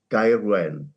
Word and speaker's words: Gaerwen: As a South Walian, I would call it Gaerwen.